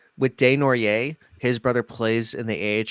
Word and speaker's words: Desnoyers: I'm going to keep getting the name wrong. I know it's Desnoyers.